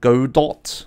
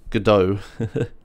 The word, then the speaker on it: Godot: problem um it's pronounced God do yeah gdo that's what I'm saying look up the pronunciation it is gdo it's like French or whatever you don't say the T um has anyone played